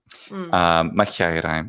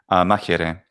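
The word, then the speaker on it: μάχαιραι: Machiairai, machiairai, machiairai, machiairai, machiairai. Machiairai. Excellent. Modern Greek pronunciation. Yeah, exactly. Modern Greek pronunciation is machiere.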